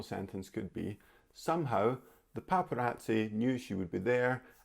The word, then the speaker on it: paparazzi: look at my list paparazzi paparazzi i think you can guess by the sound of it what language this comes from but it's italian check out the pronunciation here paparazzi and paparazzi are photographers